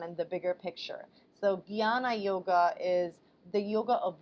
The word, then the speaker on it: Jnana: Jnana yoga, which is spelled j n a n a, but it's said Jnana yoga, is the yoga of knowledge or wisdom.